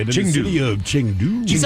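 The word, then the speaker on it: Chengdu: And I think it's more like Changdu. Changdu. Where's the A at? It's Ching. Well, C H E N.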